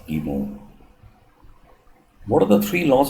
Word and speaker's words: guillemets: I mean, any English language speaker and a non-French person would obviously, take it, pronounce it as guillemets, but I was corrected once. And basically, these are punctuation symbols in French language, and they're used for less and greater than. And basically they're pronounced as emo.